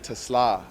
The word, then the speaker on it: Teslaa: We got the one and only third-round pick of the Detroit Lions, Isaac Teslaa.